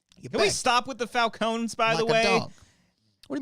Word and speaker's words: Falcone: and carine and Falcone first we got to figure out if it's a Falcone or Falcone that's what we got figure out we have two directors competing to dominate this pronunciation I think it is properly Falone okay but in the bat in Nolan's Universe they called him Falone I feel like pronouncing the e in Falcone yeah maybe yeah but